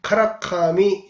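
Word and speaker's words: 韓神: 그런데 그 한신인장무의 원래 일본식 발음은 카라카미 진조무인 것입니다. 그게 한신을 일본식으로 훈으로 읽으면 카라카미가 되는 것이죠.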